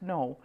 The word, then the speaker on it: Ng: And if they're a known artist, like this is an artist, his name's, no, it's NG, but it's pronounced no.